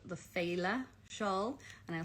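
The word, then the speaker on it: féile: a pattern by justin arkowski lorcesca called the phala shawl and i'll spell it because it's um f-e-i-l-e an irish word meaning kind of festival celebration um so fela and it uses two schemes of fade street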